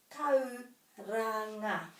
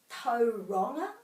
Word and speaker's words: Tauranga: Taupo, taupo, tauranga. People say tauronga or tauronga. Tauranga, tauranga, tauranga.